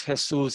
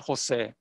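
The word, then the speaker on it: Jesús: and I said, listen, the name is Jesus, it's not Jose. It's spelled just like Jesus, but I'm not the religious figure. My name actually has an accent over the U.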